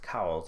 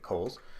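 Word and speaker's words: Cowles: is Henry Kohl's so although his name looks like it should be pronounced cows it's actually Kohl's and Henry Kohl's was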